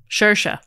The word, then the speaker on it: Saoirse: Which is an Irish name. Saoirse. Saoirse. Well, phonetically.